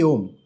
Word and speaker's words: Om: First of all, Om is one syllable, one sound when it's put together, but symbolically, if we break it down, it has three components. There is A, there is U, and there is M.